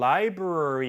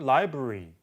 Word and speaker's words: library: 그래서 도서관 같은 경우에도 미국식은 library 이렇게 조금 더 발음을 하는데 영국식은 library 더 거의 모음을 더 줄이고 탈락시키는 것 같이 발음하는 경우가 있으니까 약간 더 소리가 뭉개진 것처럼 들려요.